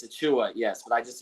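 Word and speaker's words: Achiuwa: mocking me about not saying a Chua it's a Chua yes but I just say precious all the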